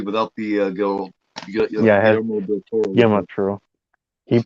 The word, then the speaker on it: Guillermo del Toro: I'm I'm just playing a movie without the Yeah, it has Guillermo del Toro with Guillermo me. Toro. He praises Fulci a lot. Guillermo del Toro. Guillermo del Toro. Yeah, it's actually pronounced Guillermo.